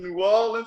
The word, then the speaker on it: New Orleans: people always say they say new orleans likes it's spelled n-e-w w-a-l-l l-i-n-s new orleans what is it i